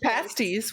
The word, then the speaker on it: pasties: else these are here they're pronounced pasties when they're uh for the English food sorry in the pasties